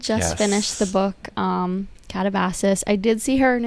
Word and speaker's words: Katabasis: But I did just finish the book um Catabasis. I did see her in an interview say that she had it originally pronounced as katabasis and she learned that the correct pronunciation is catavosis.